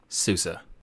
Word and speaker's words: SUSE: I'm this is the how to pronounce series from tux digital today's episode Susa sue sue sue sue sue sue sue sue